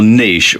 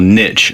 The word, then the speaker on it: niche: Well, the first thing you had to do is pick your niche, or pick your niche, as some people pronounce it.